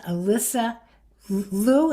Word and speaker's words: Alyssa Liu: But the best example in the Olympics, and many of you will know, a woman called Alyssa Liu, am I saying it right?